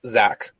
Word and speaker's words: Zack: name is not Zach it's Zach like Jack and every other word that it rhymes with in the English language well um I only